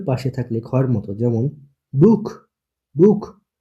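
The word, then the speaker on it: Buch: এরপর হচ্ছে আ ও ও এর পাশে থাকলে খয়ের মতো, যেমন বুক, বুক। ও এর পাশে সে আছে বুক, এর জন্য এটা খয়ের মতো উচ্চারণ হয়েছে বুক।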